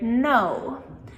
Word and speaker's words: know: how to spell because when we combine the K with letter N, then the K goes silent and we pronounce the N instead. So, for example, the word know. Like, how much information do you know? So, when we listen to this word, we hear N, na na, but when